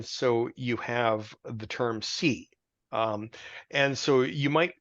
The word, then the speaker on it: see: you have the term C um and so you might hear the term uh a c uh and it's pronounced like just as I see something but it actually comes